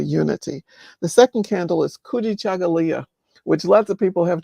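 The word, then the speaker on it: Kujichagulia: The second candle is Kuji Chagalia, which lots of people have trouble pronouncing, but it's Say it again for us, Dr. Green. Kuji Chagalia. Kuji Chakalia.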